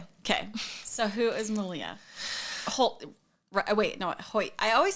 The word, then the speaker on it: Hoyt: Hoyt. I always say it wrong. Hoyt.